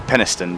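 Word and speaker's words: Penistone: for the bills yes it's actually peniston but yeah it's ridiculous i love it look there's a town called peniston yeah peniston that's how it's actually supposed to be pronounced but like nobody calls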